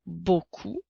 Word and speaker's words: beaucoup: qu'on voit très souvent dans le mot beaucoup nous avons le son peu le son o qui s'écrit eau le son que qui s'écrit avec la lettre C et le son ou qui s'écrit avec les lettres o u la lettre P est une lettre muette à beaucoup comme dans les phrases